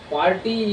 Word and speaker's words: party: Uh, Party in this word there are two parts, par and ty. We should intonate or putting stress the part par, party. For if we intonate the ty word, then our pronunciation will be mistakable, you can say.